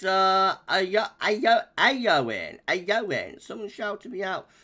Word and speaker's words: Eowyn: pronounce this one so it's storm aoin a yoing so that e is an a really I guess um